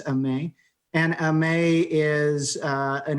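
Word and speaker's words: Aimée: i'd like to introduce a may code uh and i actually know how to pronounce her first name and we might say amy but it is a may and amay is uh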